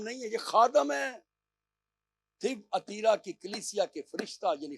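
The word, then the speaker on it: Thyatira: اور تھیب اتیرا جو اس کا تلفظ ہے، وہ تھیب اتیرا کی کلیسیا کے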